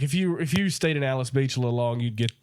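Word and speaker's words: Alys Beach: Well, I will say this: we drove through Alice Beach, which I thought was Alley's Beach. Yep. But it's Alice Beach. Y'all got all that money. Spell it right.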